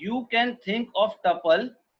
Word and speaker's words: tuple: लिखा है you can think of tuple pronounced as tuple rhyme with couple as those lists which cannot be changed.